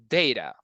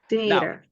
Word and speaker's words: data: So it's consumers' data. Data. Now, you can say data, but also you can say data, like the two are okay, the two pronunciations are acceptable, data or data.